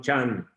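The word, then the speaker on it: จันทร์: Just like Monday, it is written one Chandra, one means day, one Chandra, moon day, Monday, but they pronounce one Chan.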